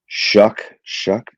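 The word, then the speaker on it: Shough: Yeah, kid out of Shuck. What is it? Yeah. Kid It's out spelled of show, but it's pronounced shuck.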